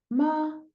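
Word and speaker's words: 妈: tiene distinto tono bien Por ejemplo no sé digo ma Eso significa mamá ahora digo ma y significa caballo bien tenemos la m la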